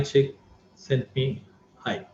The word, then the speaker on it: Csikszentmihalyi: I pronounce that name. He's a Croatian. Mihai Csikszentmihalyi sent me hi. That's how it's pronounced.